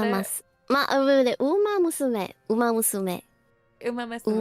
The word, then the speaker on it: Uma Musume: I don't know how you pronounce that. I was taught once. Is it Umamasume, the horse game? Umamasume? Uma Masume. Yeah, that's the right. Yeah, is that Uma it? Mas. Wait, wait, Uma Musume.